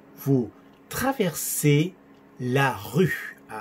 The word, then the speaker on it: rue: Vous traversez la rue. Sonido U, U. Practica, practica. Rue. Los labios cerrados y como que soplas.